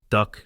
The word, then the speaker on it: dhok: Duck, okay.